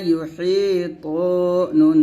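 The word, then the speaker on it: يُحِيطُونَ: পেশ ইউ ওয়ালা ইউ এখন আমরা বলি ইয়া পেশ উ বলি মানে হামজা পেশ উর মতো অনেক উচ্চারণ করি তো এটা করা যাবে না ইয়া পেশ ইউ ইউ উচ্চারণ করবেন জিহ্বার মধ্যখান উপর তালুর সঙ্গে লাগিয়ে উচ্চারণ করবেন ওয়ালা ইউ হায়া জের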